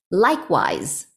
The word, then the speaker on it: likewise: Likewise, even though you see the spelling of the word, we see that it ends on an S-E. When you pronounce it, it does sound a little bit like a Z.